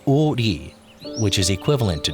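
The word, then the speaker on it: 오리: Its name derived from the fact that it stretches for 5 ri, pronounced o ri, which is equivalent to 2 kilometers.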